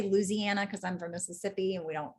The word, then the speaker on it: Mississippi: And a lot of times in Mississippi, we don't say that whole word either. We say Mississippi. I say instead of, like, Mississippi. Mississippi. So we dropped the syllable there too.